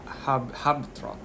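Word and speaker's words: Habetrot: Habitrot.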